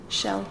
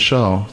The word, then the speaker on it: Kjell: My name is Shell. Like you'd find me on a beach. 3 letters are the same. That's right. Right? Good. Well, Shell, we are glad you're here with us at the podcast.